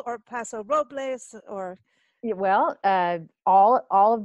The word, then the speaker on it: Paso Robles: fall morning here in Paso oh there's a paso robles or paso robles or well all all of the above passive